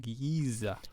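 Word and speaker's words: Giese: It's a slightly Germanic name, but it's, yeah. Well, it would probably be correctly pronounced Giza.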